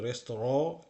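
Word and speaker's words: Restaurant: যেরকম ইন রেস্তোরাঁ, এটা কিন্তু রেস্টুরেন্ট না, এটার উচ্চারণ ফ্রান্স থেকে এসেছে, ফ্রেঞ্চ ভাষা, ফ্রেঞ্চে রেস্তোরাঁ বলে, আমরা বাংলাতে রেস্তোরাঁ যেরকম বলি সেরকম একটা উচ্চারণ, কিন্তু রেস্তোরাঁ এটা হচ্ছে সঠিক উচ্চারণ।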